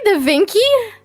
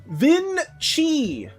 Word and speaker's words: Vinci: Is that Did you say Dinky? Yeah. Dink. Is that how you pronounce it?